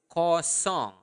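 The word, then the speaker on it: kosong: say zero zero is coong okay okay in basa say it again repeat it after me Co s uh make sure that you are pronouncing the nle sound There coong song like a song okay so coong okay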